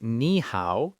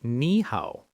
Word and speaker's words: 你好: Both ni and hao are third tones, which are a dipping tone. But when two third tones are together, it's hard to say. So we change the first one to a rising second tone. So you don't say ni hao, you say ni hao.